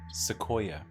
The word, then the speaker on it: sequoia: It's a sequoia. Sequoia? Sequoia. Mm-hmm. Sequoia? Sequoia. That's how you pronounce that.